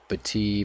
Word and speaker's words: Battier: Ooh, he really I guess they pronounce Batee Battier.